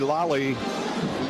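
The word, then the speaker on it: Laaly: Gabe Judy Lally, or Lally, L-A-A-L-Y, Lally, pronounced Lally, got his mitts in there and knocked it away.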